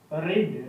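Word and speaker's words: read: Book will see have रीड। रीड का third form रीड ही होता है, रीड पढ़ते इसको रेड है, रीड, रेड, रेड। Spelling same होती है, प्रोनाउंसिएशन चेंज हो जाता है, रीड, रेड, रेड।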